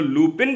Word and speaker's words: Lupin: हो, लुपिन भी बोल सकते हो, लुपॉन भी बोल सकते हो आपके कन्वीनियंस के हिसाब से, क्योंकि ये फ्रेंच वालों का ना हमेशा सा एक क्यूट गड़बड़ होता है प्रोनाउंसिएशन को लेकर। स्पेलिंग कुछ और लेकिन प्रोनाउंसिएशन कुछ और। तो anyways I will call it लुपॉन, क्योंकि पूरे सीरीज में लुपॉन लुपॉन लुपॉन लुपॉन लुपॉन ही चलता है।